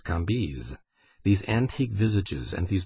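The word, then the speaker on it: Cambis: Lei kis c a m b i s pronounced KZ these antique visages and these biblical names mingled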